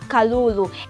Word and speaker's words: Kalulu: gotten that one a rabbit in Jinja is Kalulu and how do we spell it okay Incheon latest photos K a L u L u so get this one right k a L